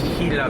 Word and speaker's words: Gila: But anyways, what I was saying was the G is silent, and it's not Gila bend, it's Gila bend.